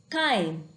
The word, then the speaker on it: chyme: Like CH sounds like K, so we used to pronounce the word CHYME means chyme.